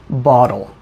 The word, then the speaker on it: bottle: focus on the pronunciation you can hear that I said bottle because I'm American I use something called the flap t or the tap t where to make the T sound your tongue just goes up